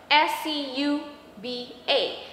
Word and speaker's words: SCUBA: Now, that is composed of first letter of the words that I mentioned, S-C-U-B-A, Self-Contained Underwater Breathing Apparatus. But we pronounce it like a word, really a word, SCUBA.